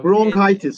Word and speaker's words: bronchitis: I confused ok yeah bronchitis sometimes yeah practice in this case it's the CH is pronounced like a K so bronchitis it's whenever